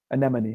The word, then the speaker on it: anemone: The E is an eh sound, and then the other part is just money, anemone.